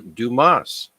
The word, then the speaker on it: Dumas: my list is Alexandra Dumas duas I don't think the S is pronounced or it's uh pronounced